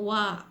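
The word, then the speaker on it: は: beberapa partikel yang ada bahasa Jepang misalnya partikel Wah untuk menunjukkan ditepati kewah itu ditusuk pakai huruf Arab tapi dibacanya wanna partikel ini fungsinya adalah untuk menunjukkan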